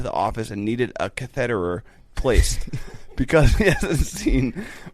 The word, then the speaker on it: catheter: I place catheters. Yep. Yeah. Catheters. Catheter, like Federer, but cath.